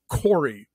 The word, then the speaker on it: Corey: don't know we meet Corey rhymes with Lori but it's Corey in 2019 he Babysits